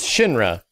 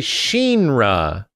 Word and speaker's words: Shinra: shra yeah so Vincent says Shinra like the way it should be pronounced but all the other characters say Shinra the